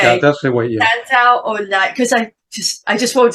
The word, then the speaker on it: Santaolalla: Santaolalla. Okay. Yeah, that's the way. Yeah. Santaolalla, because I just won't say his name because